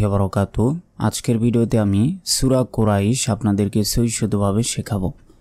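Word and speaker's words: قريش: লাতে এক সেকেন্ড টান হবে আমরা অনেকে বলি কুরাইশ এটা ভুল কারণ অনেকে আমরা এই যে বাংলা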